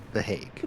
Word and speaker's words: The Hague: How do you pronounce it? The Hague.